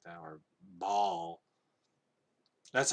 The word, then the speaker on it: Baal: gideon to sacrifice a ball after tearing down this ball altar and yes that is actually how you pronounce it the ancient text the